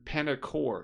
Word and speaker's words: Panerkour: So that was that was panel cool panel parkour panner paner core is technically how it's spelled in the URL p a n e r k o ur r a play on panel and parkour how about for that